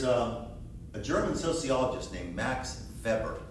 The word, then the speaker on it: Weber: German sociologist named max fabric we would call it Weber but the Germans don't pronounce until he was the way we do max that were German